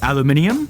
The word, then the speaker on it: aluminium: Aluminum, or as the Brits say, aluminium, or as Andy Dwyer says, aluminum, is a metal that is pretty common in the Earth's crust.